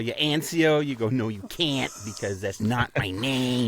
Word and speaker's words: Anciaux: A But can we say my last name correctly? Do you mind if I pronounce it this morning? There it is. Anio.